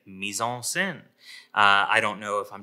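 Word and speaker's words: mise en scène: to pronounce it it's meson sin so you can practice being a French person if you don't have a French accent and say Meisel sin I don't know if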